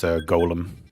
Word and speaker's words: Golem: Yeah, it is absolutely uh pronounced golem.